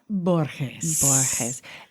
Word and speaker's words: Borges: I mispronounced her name. Is it Borges? It is, yes. Cibella Borges.